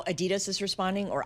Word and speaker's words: Adidas: Do we know how Adidas is responding or Adidas if if you're, you know, dedicated to the German pronunciation, how they're responding to the the World